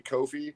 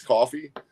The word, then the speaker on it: Ko-fi: And you can buy individual books through uh I always say Kofi because that's how it's spelled and I think Kofi Kingston, but apparently it's coffee, but it's uh coffee.comrestlepop.